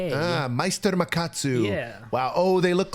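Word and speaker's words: Meister Makatsu: Ah, Meister Macatsu.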